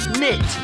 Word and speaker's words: knit: Mary liked to knit woolly jumpers. Yes, you spelled the word correctly. Knit is spelled K N I T. The K is silent, but this K N letter string is quite common.